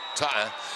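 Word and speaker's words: Taunton: in North Attboro and Taton or some people pronounce it Ton and Rich Harwood and Bay State Financial Services.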